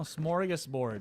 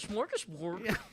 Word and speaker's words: smorgasbord: Oh, smorgasbord. Right. There's no H. So it's SMO.